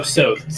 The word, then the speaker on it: Soth: So it's like Soth? Oh, Soth. Like Soap.